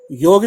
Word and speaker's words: योग: तो वो इंग्लिश के अंदर योग है, तो योग, लास्ट में ओ की साउंड होती है, तो उन्होंने स्पेलिंग लिख दी YOGA, क्योंकि ए की साउंड तो ओ होती है, तो वो बन गया योगा। अभी सब कहते हैं योगा योगा, योगा गलत वर्ड है।